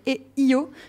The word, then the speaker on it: EO: j'ai vu un film qui s'appelle et yo mais qui s'écrit eo c'est un film magnifique